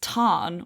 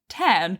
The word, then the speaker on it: Tarn: So, for example, it's Tarn or Tarnenach, not Tern, but Rebecca Yaros pronounces it Tern, which is just not right, even though she's like taken the word directly from Gaelic.